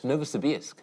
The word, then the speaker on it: Novosibirsk: In Novosibirsk? Sibirsk. Novosibirsk.